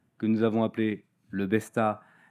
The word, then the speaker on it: Besta: nous avons appelé le Besta, on le prononce à la française, on veut qu'il soit accessible à un maximum d'agriculteurs dans le monde.